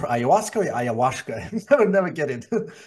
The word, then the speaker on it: ayahuasca: Is it pronounced ayahuasca or ayahuasca? I would never get it. It's sometimes pronounced either way, but most commonly ayahuasca.